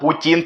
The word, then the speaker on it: путин: Это национальное блюдо, называется оно путин. Именно путин, правильно ставьте ударение.